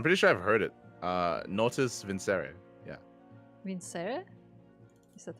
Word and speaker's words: Natus Vincere: Okay, it's apparently in Latin it's natus vincere.